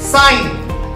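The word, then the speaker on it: sign: জি এন পাশাপাশি থাকলে জি এর উচ্চারণটা হবে না। যেমন এস আই জি এন, সাইন, এখানে কি জি এর উচ্চারণ হলো?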